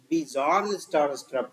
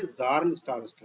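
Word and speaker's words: Bjarne Stroustrup: लेकिन उस दिन पहली बार उसने हमारी वैल्यू कह लो, औकात कह लो, बताया कि भैया बिजॉर्न स्टार स्ट्रब नहीं है, जॉर्न स्टार स्ट्रब है, बी साइलेंट।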